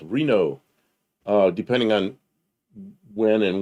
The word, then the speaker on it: Renault: And then there was Reno, Renault, Reno.